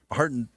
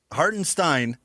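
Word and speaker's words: Hartenstein: I don't think he can beat Chad either, but you know, Hartinstein can't go the or Hartin Hartinstein is how you pronounce that one.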